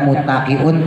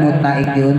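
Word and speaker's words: مُتَّقِين: malam Jumat ya perhatikan banyak banget orang baca muttaqiun tanya dilaguin muttaqiun kalau kau percaya besok malam Jumat prakk ya pasti dilaguin padahal muttaun tu tanya pendek Makanya kalau saya kalau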